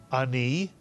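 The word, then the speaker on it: אני: one syllable word and if you read it Ani again it's one syllable the a is like a Grace note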